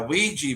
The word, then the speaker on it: Ouija: Oh, well Is it a done, Ouija or a Ouija Tracy. board to call it? Oh, I thought it was spelled with a Q. No, and it's Ouija. Hui as in yes and ja as in yes.